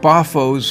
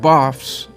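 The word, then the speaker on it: Bavo: Bafo's Cathedral on the left and the Belfry. St. Bafo's Cathedral, called St. Baf's by the locals, built from the 13th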